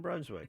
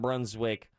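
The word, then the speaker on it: Brunswijk: oh all right damian brunswick i think that's how it's pronounced it's bruns w-i-j-k a lot of jk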